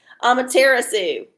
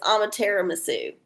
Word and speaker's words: Amaterasu: Sorry, I totally just mispronounced. Amaterasu. It's like tiramisu, but it's Amaterasu.